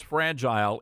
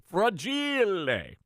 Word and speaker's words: fragile: You did mispronounce fragile. It's, if you've seen Christmas Story, you know it's fragile. Fragile. It's Italian.